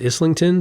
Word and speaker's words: Islington: And the angel, by the way, is the Angel, I believe it's pronounced Islington, the Angel Islington, which is a subway stop or a tube stop on the London Underground.